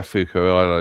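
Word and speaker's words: Foucault: Fukco. Yeah. Yeah. Fuko. I pronounce Yeah, I'm pronouncing the French way. Yeah, it's probably correct.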